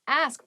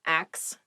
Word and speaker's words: ask: next word is ask ask please pronounce this correctly it is not ax many native speakers make this pronunciation mistake and it really bothers